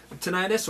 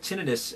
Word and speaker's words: tinnitus: tentis what is tentis tenius or sometimes called tinius um depending on your pronunciation is actually ringing in